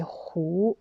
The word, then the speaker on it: 和: Quatrième prononciation, c'est deuxième don, 胡. Alors, c'est 胡.